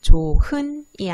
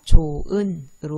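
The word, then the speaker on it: 좋은: 조, 흔이 아니라 조, 은으로 발음되는 히읗 탈락 현상입니다.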